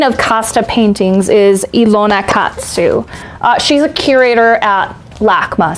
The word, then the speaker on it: Katzew: Ilona, Ilona, and her last name is Katsu, so it's spelled Katzew, and she's the curator of colonial art at LACMA.